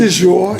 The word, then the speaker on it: Dior: Did I pronounce that correctly? Dior, Dior.